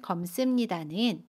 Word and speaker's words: 검습니다: 형용사 검다에 습니다가 결합한 검습니다는 검습니다 라고 발음해요. 받침 미음은 그대로 발음하고요. 습은 씀으로 발음해요.